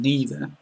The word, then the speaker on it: neither: other day either and neither now this is um quite famous there's a song which dis because there are different ways to pronounce these words and the different ways are both acceptable so you can say